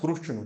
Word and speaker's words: कृष्ण: इसको साउथ की तरफ रू बोलते हैं, कृष्ण। हाँ, कृष्ण तो कृष्ण, इसका जो सही उच्चारण मानते हैं वो कृष्ण।